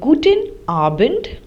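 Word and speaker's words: Guten Abend: say guttin Morgan which means good morning uh gtin arent which means good evening now this is uh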